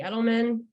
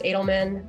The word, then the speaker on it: Edelman: folks find you yes so my LinkedIn Edelman that's the fanatic way it's actually pronounced Adelman and I don't have a Twitter but you